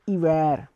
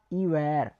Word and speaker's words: hiver: And to winter we will say hiver, I-V-E-R, hiver, H-I-V-E-R, but we will not pronounce H in front of that.